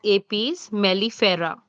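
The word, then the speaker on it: Apis mellifera: Italian B is pronounced as APS melifera. Apes melifera.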